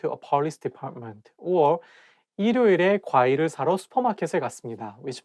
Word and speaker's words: 일요일: If you read it syllable by syllable, you can say 일요일. But when you say it as a one word, you have to connect it together and say 일요일.